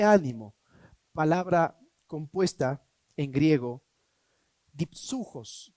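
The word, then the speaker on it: δίψυχος: Doble ánimo, palabra compuesta en griego, dipsujos se pronuncia en griego y significa doble espíritu.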